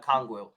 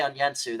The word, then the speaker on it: Okongwu: Onyeka Okongwu. Yeah, I was about to say Onyensu.